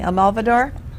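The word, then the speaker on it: Almodóvar: I can never pronounce his name right, but you'll help me. Almodovar.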